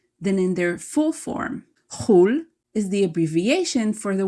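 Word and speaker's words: חול: outside of the country, pronounced chul in its abbreviated form.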